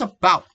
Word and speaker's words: about: For example, it's about. Here, the first syllable is weak, and the second syllable bout is strong and stress.